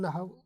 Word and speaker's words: نحو: ہے جی علم نحو، کوئی اس کو نحو بھی پڑھتے ہیں لیکن نحو اصل تلفظ ہے جی۔ علم نحو کیا